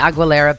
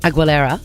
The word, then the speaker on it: Aguilera: All right, I've found a photograph of Christina Aguilera basically living my daughter's dream. I love how you say her last name. Aguilera?